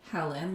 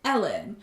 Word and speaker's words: Helen: Because we Googled Helen, because her name is spelled Helen, but she's Scottish, so she doesn't say it Helen like we would here in America. She says Ellen.